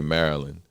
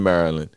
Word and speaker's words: Maryland: right yeah man we we say it like we're saying the magician's name merlin we don't really say maryland i didn't start saying